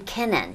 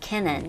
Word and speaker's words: Kinkennon: is a Mike um kenon kenon K kenon yes Accent on that second syllable Kennon kenon and Joel Monon mon